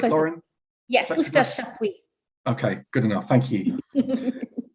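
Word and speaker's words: Eustache Chapuys: I really hope I'm going to pronounce this right. Estash Shapwee. Is that right, Lauren? Yes, Estash Shapwee.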